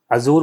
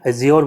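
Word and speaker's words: Azure: अज्योर जो है ये नहीं होता है, ये जो है माइक्रोसॉफ्ट का है, इसकी ये स्पेलिंग होती है, अजूर बोलते हैं या अज्योर बोलते हैं कई लोग।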